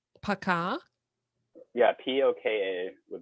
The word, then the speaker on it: пока: sort of like a, Paka? yeah, "poka" with stress. Poka. Hmm. But Okay. when O isn't stressed, it's pronounced as an A also, so it's basically "пока."